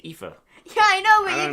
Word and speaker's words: Aoife: Aoife Valkyrie with the win. You said her name so weirdly. Aoife. It's Aoife.